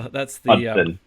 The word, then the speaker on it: Hodgson: That's the Hudson. Silent G. It should be easy.